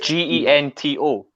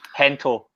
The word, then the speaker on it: Gento: Was this Is it Gento? Gento. Hento.